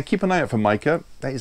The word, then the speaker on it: Micah: Now, keep an eye out for Micah.